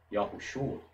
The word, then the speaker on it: Yahushua: Mas se você unir isso a uma palavra como no nome Yahushua, perceba que a pronúncia é rápida. Yahushua. O O quase desaparece, o A fica destacado.